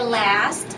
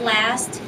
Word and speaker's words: last: And give me the American A for last. That's last year.